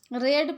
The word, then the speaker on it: read: हैज़ he ever रेड my heart. क्या उन्होंने मेरे दिल को पढ़ा। रेड पढ़ेंगे उसको READ रीड, और READ रेड, दोनों की स्पेलिंग सेम है।